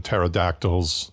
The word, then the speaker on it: pterodactyl: And, for those of us who were around when pterodactyls with a silent P circled overhead, it was actually kind of fun.